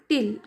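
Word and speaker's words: tail: यहां पर स्पेलिंग है उसके हिसाब से इसका प्रोनाउंसिएशन आएगा कि टिल हम जैसे कि हम अब तक कहते थे इसको टेल कहते थे हम मैं भी पहले टेल ही कहती थी पर इसका सही प्रोनंसिएशन टिल है जैसे कि हम बाउल कहते हैं ये गलत प्रोनंसिएशन है बोल सही प्रोनंसिएशन है टावल यह गलत प्रोनाउंसिएशन है। टाल यह सही प्रोनंसिएशन है। उसी तरह टेल यह गलत प्रोनंसिएशन है। टिल यह सही प्रोनाउंसिएशन है।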